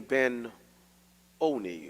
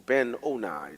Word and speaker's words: Ben-Oni: she died, that she called his name Ben-Oni or Ben-Oni, depending on whether you want to pronounce a hard, long I or short.